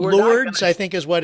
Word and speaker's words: Lourdes: But we're Lords, I think is what it's pronounced. Okay. Even though it's spelled that way, but I think it's pronounced Lords.